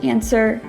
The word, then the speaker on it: answer: rights wrong and rap my last rule with a silent w for today's video is the following words answer two and sword so thank you so